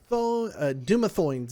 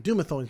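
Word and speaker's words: Dumathoin: will uh part of dumathorns i'm sorry dumathones not doomethorns or i i added an r doomathone's lips mispronunciations are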